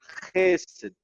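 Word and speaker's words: חסד: La palabra, es Gesed, Gesed, con una pronunciación gutural, que significa fidelidad, lealtad, pero también tiene que ver con la misericordia y la bondad.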